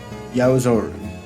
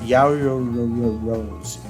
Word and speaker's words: Yaoyorozu: Then the class rep is Midoriya, and the deputy class rep will be Yaozoru. I think I pronounced Yaoyorozu.